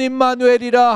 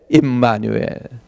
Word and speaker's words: 임마누엘: 예수님의 이름이 예슈아, 그 다음에 또 다른 한 이름이 있는데 임마누엘. 임마누엘. 우리나라 발음은 진짜 헬라 발음하고 너무너무 가까워요.